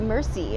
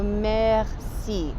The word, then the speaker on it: merci: to say Maxine now a lot of people say merci and that's kind of it's not all right at all so messy this one's a bit tough and to get that our sound move super tough but again so if